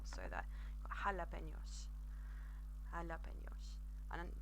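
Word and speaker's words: jalapeños: pick a quite tricky quite a tricky word there because it's got the NEA that we've literally just touched on as well so that jalapenos and up in yours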